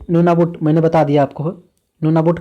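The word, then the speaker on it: Nunavut: तो ये नूनाबुट का जिक्र मैंने किया था, लेकिन न को मैंने साइलेंट आपको बताया। न साइलेंट नहीं है।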